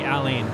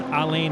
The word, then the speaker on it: Alain: inside of the cork screw Well Done by Allan right there I always switch between Allan and alen I need to pick one I'm going to say alen cuz that's the correct pronunciation they said it was alen Al Prost